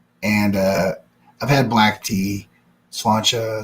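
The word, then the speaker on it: Sláinte: Slancha is actually a better pronunciation.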